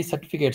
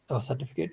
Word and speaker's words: Zertifikat: Now say I have to attest my certificate. So can I use this like okay? Ich muss meine certificate is same, right? Certificate. No, but you have to say it like a German.